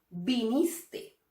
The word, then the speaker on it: viniste: Vinistes, dijistes, cantastes, y esto es un error. Esto no es correcto. Lo correcto es pronunciarlas sin la S final.